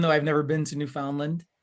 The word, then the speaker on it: Newfoundland: i'll go with you newfoundland newfoundland newfoundland yeah it's almost like new finland but like different okay yeah because i've